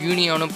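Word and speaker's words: Guinea: கினின்னு சொல்கிறாங்க, சில பேர் கியூனியானும் ப்ரொனவுன்ஸ் பண்ணுறாங்க.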